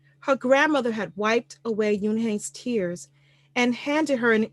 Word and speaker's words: Unhei: "One?" the girl asked, scrunching up her face. One," some kids chanted. "No, no," Yoon-hae corrected. "It's spelled Unhei. It's pronounced Yoon-hae."